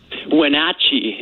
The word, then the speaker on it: Wenatchee: Marcus, is it Wenatchee? Wenatchee. It's an Indian name.